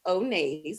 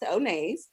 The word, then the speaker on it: Onays: First of all, the name of my company is Onays. That's how you pronounce it. Onay is my middle name. And don't be afraid to mess that up because I've gotten onesies and all other kinds of things. So it's actually pronounced Onays.